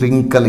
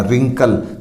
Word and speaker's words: wrinkle: इसी तरह WRINKLE, रिंकल, यहाँ भी R से पहले W है, अपना W यहाँ साइलेंट हो जाएगा, रिंकल, झुर्रियाँ।